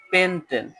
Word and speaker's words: পেনটেন: সাথে একার হয়ে যাবে তাহলে এটার উচ্চারণ হবে পেনটেন পেনটেন এ উচ্চারণ হবে পেনটেন এরকম করে আমি এখন 10 তোমাদের নামকরণ শেখাবো।